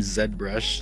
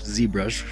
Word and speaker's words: ZBrush: I've imported this mannequin from Zed brush zbrush depending how you pronounce it um just a basic